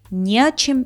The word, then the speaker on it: не о чем: С предлогом вот это «не» ставится перед предлогом и пишется раздельно, но произносится слитно. К примеру, не о чем беспокоиться, не к чему стремиться.